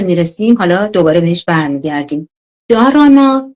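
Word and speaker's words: dharana: به این پنجمی که میرسیم حالا دوباره بهش برمیگردیم: دارانا، دیانا، حالا اینا دهارانا و دهیانا هم تلفظ میشه، و بعد سامادی.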